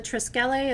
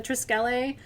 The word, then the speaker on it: Triskele: The Triskele, or Triskele, you'll hear people pronounce it different ways.